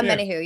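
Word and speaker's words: Omenihu: Yeah, Omenahu, yeah.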